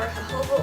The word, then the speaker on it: jojoba: can use are olive oil coconut oil or jojoba oil that's how you say it but this is how you spell it this is going to keep you here